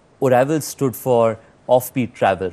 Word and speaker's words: Oravel: OYO, and I was as reading your article, Oravel, that's how you pronounce.